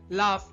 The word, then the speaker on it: laugh: এই শব্দগুলোকে কিভাবে পড়েন লাফ কফ রাফ এনাফ টাফ এখানে জি এবং এইচ আছে তাই না? তাহলে ফা উচ্চারণ হলো কিভাবে?